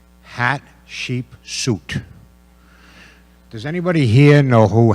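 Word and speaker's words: Hatshepsut: out, first grade curriculum, how to pronounce this person's name. And I think we settled on hat, sheep, suit.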